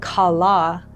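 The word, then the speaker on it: כלה: And so this word kala in Hebrew means to finish, to bring to a full end, to complete something.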